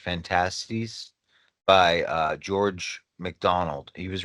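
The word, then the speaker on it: Phantastes: But it starts off as it's called Fantasies, or no, Fantasies, it's pronounced Fantasies, by George MacDonald.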